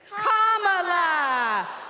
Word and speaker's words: Kamala: First you say comma like a comma in a sentence. Then you say la like la la la la la. Put it together and it's 1, 2, 3. Kamala.